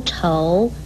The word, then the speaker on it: 愁: 怅字通常跟这一个愁字连在一起用，愁字的国语注音是吃藕愁二声愁，愁是哀